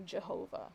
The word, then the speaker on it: Jehovah: over time but the the original pronunciation is like a yi kind of sound um so that's why like in german for example the j sound makes like a u sound like yeah and so if you were to take that and write it or use a german pronunciation it's like uh because the v makes a f as well uh but then reading that in more modern english um you would say jehovah and so that's sort